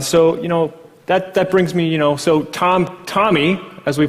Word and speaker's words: TomEE: And so, that brings me, so TomEE, as we pronounce it, it's not TomEE, it's TomEE, like the name TomEE, or like the Who album, TomEE.